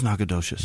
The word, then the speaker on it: Nacogdoches: That is Nacogdoches. Nacogdoches? Yeah. Nacogdoches. Nacogdoches? I don't know. Nacogdoches. It sounds like a compliment. Like, it's the most Nacogdoches, extra special, happalicious, making up fucking happy words.